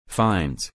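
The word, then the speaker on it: Fiennes: patent than 1447 for James vns pronounced fines for his services in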